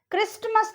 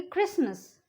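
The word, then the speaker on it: Christmas: टी is silent before L. ठीक है, एल से पहले अगर टी आता है तो वो साइलेंट होता है, उसको प्रोनाउंस नहीं करते हम. जैसे कि देखिए कास्टल, CASTLE, उसको हम कास्टल नहीं बोलेंगे, उसको हम कैसल ही बोलेंगे. ठीक है, नेसल. क्रिस्टमस नहीं बोलेंगे, उसको हम बोलेंगे क्रिसमस. लिसन, लिस्टन नहीं बोलेंगे उसको हम.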